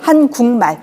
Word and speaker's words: 한국말: 같은 조음 위치에서 비음이 아닌 애가 비음 앞에서 비음으로 변하는 거예요. 밥물이 밥물. 믿는다가 믿는다. 한국말이 한국말. 이렇게 같은 조음 위치에서 비음 앞에서는 비음으로 변하는 겁니다.